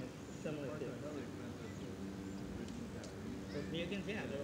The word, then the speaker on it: Mugen: So these are it's pronounced Japanese. It's pronounced Mugen, but it's Mugen.